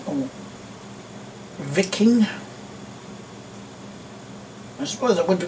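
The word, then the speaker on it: Wiking: this and a corgi wking or vicking I suppose that would be pronounced a viking if you want to pronounce the W as a v you know the German Way uh Mercedes 0302 post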